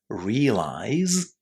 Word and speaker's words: realize: That's why it's quite hard for us to recognize the Z at the end of realize and to pronounce that Z at the end of realize. But that's the way we should do it. At least in theory, we should say realize and realized.